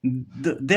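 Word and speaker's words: the: जो उसका ये वर्ड इसका फर्स जो साउंड है वो वोल साउंड है इसलिए अपन क्या प्रोनाउंस करेंगे दी प्रोनाउंस करेंगे ठीक है द आंसर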